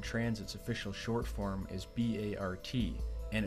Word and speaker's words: BART: and here is where everything appears to tie together Bay Area Rapid transit's official short form is b-a-r-t and it's pronounced Bart could the train references in both